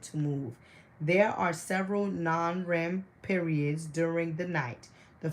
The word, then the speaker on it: NREM: We have these have been called REM, rapid eye movement, and NREM, pronounced non-REM.